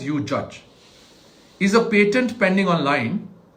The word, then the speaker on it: UJudge: Now, this website is called UJudge, UJUJ, pronounced as UJudge, is a patent pending